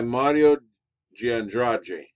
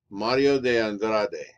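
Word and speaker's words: Mário de Andrade: it was led by mario giandraji i'm pronouncing this real rio de janeiro style mario de andrade would be another way to pronounce it he was a multi-talented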